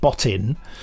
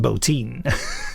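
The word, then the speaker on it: Bottin: I and also his his name looks like it should be pronounced and botton but I know from listening to the interview that he it's pronounced Bolton because that's how he pronounced his name and he was a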